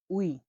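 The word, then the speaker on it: uy: পরবর্তী অক্ষরটি দেখুন, ইউ, ইউ এর উচ্চারণ হয়ে থাকে উ হিসাবে। উদাহরণ আমরা দেখছি, দেখুন, উই, উই মানে হলো বাড়ি, উই, উই, উই মানে হলো বাড়ি, বাড়ি, বাড়িকে বলা হয় উই।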